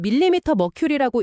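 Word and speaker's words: mmHg: 어, 이건 밀리 머큐리라고 읽는 단위인데요. 혈압계 단위예요.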